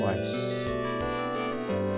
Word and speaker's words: Weis: Basically, and this was thanks to Tracy Hickman and Margaret Weiss, that's how you pronounce her name, was basically, although you had